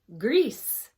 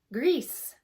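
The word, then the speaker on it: gris: show you the gray one here it is pronounced grease grease and then black Negro Negro alright how did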